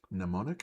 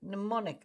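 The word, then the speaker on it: mnemonic: nemonic pneummonic yeah pneummonic why why is it written m ne o n i c pneummonic but you don't do anything with the m right it's So pneummonic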